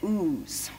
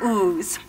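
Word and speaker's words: Ouse: And the river, okay, O-U-S-E, I think it said ooze. Am I correct on that? I did look it up. Thank you. Good, good, good, good. The river ooze.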